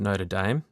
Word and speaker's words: Notre Dame: at the University of Notre Dame, which I always need to get my pronunciation right because they don't pronounce it the French way. It's notAM. It's not that. No, it's Irish.